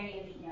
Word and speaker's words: Horigue: I'm Horigue. Yeah, it's Horigue. Anyway, so title of my thesis is basically scaling up to form marine protected area networks.